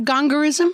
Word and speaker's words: gongorism: spelling bee words because it's spelled exactly like it sounds. Like I think she tried to like get cute with it, but it was GONGORISM, gongorism.